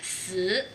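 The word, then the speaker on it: 死: Y la palabra muerte se pronuncia zi. El carácter no tiene nada que ver y la pronunciación varía en el tono. En el número 4 es cuarto tono y en la muerte es tercer tono.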